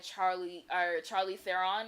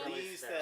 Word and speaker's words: Charlize Theron: Going into it, I know I watched Atomic Blonde recently, and Charlie Theron, I think is how you say her name. Charlize Theron.